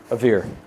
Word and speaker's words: Avere: And we just pronounce it in English, avere. Avere.